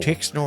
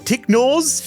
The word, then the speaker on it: Tixnor: Tixnor. Yeah, I Wumbletree. might have said it wrong earlier. I might have said Ticknors, but it's Tixnor.